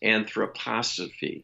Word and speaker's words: anthroposophy: pronouncing that word incorrectly from what i understand it's anthroposophy anthroposophy correct anthroposophy okay thank you